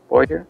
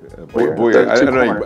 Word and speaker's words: Bouye: Boyer? Bouye. I know we know what you're talking about. The pronunciation is everything.